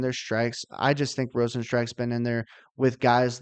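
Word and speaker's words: Rozenstruik: kind of fitting that his name is pronounced Rosen strike um I think his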